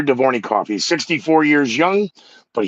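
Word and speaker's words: Dvornikov: his name and i wrote it phonetically uh alexander devornik devornikov alexander divornicoff he's 64 years young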